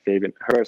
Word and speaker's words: Herbers: Fabian Herbers, actually, that's how you pronounce it.